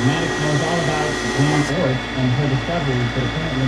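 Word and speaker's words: Jan Oort: It's pronounced like Jan Ort, because he's from the Netherlands or something like that.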